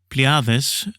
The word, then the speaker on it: Pleiades: And then with Pleiades, that's the Greek pronunciation of the constellation of Pleiades, which should be in the most visible in autumn, so early autumn.